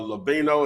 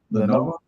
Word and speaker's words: Lenovo: You can get an HP or Levino. Is that how you say it, Tori? Lenovo.